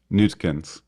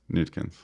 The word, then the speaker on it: Neutkens: But like most of the time, English people will pronounce it as Neutkens, Neutkens. Cool. which is like Newt and then Kins or something, which Nice.